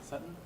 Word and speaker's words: Sutton: How do you pronounce his name correctly? Rich Sutton, and then it's Andy Bartow.